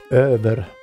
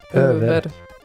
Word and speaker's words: över: One is an A with dots over and one is an O with dots over. Obviously, but when you need to pronounce it, not like when, it's just, you need to make a difference when you pronounce them. And yes, as in även or över.